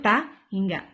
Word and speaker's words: tak hingga: Dibacanya itu tahingga.